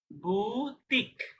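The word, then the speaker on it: boutique: উদাহরণ দিচ্ছি, যেমন এটা একটা ওয়ার্ড, কি হবে ওয়ার্ডের উচ্চারণ? বুটিক। বু বুতিক, মানে শেষে ক দিয়ে শেষ করলাম, এই অংশটার উচ্চারণ করলাম ক, তাহলে বু টিক।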